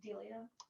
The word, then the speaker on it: Delia: Why is Amy anything like, is it Delia? Delia. Thank you. It really shows what a library professional I am when I can't pronounce the name of the author correctly.